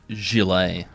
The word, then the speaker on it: gilet: Look, outside of Queensland, that word is actually pronounced gilet, Clancy, but...